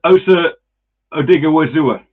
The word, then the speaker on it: Osa Odighizuwa: I'll let you pronounce his name. Osa. Don't go with it. I'll start. It's Osa Odighizuwa.